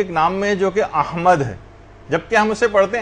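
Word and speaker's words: أحمد: یہ نام آیا ہے۔ یعنی صحیح تلفظ ہے، الف پر زبر ہے، ہا جو ہے وہ ساکن ہے، میم کے اوپر زبر ہے، اور دال جو ہے وہ ساکن، احمد۔ تو بعض اوقات اس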